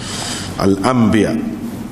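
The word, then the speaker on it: الأنبياء: ba tu eh gitulah al-anbiya Al Hamzah Nun ba ya Alif Nun bukan mim tulisnya kalau hak asal tu Ha tapi dari segi bacanya mim lah surah ke-21 iaitu al-anbiya Rasulullah sallallahualaihiwasallam dituduh sebagai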